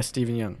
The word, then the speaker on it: Steven Yeun: Like, when I'm turning on the television, I see Steven Yeun. Is that how you say his name? Yeah, Steven Yeun.